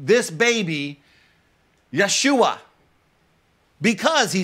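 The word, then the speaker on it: ישוע: another Joshua you see the Hebrew word Joshua is pronounced Yeshua and in the Latin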